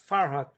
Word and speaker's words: Farhad: My name is Farhad, like Bond, James Bond. So if you got that, it will be easier. Sorry, I didn't think that you were talking about me.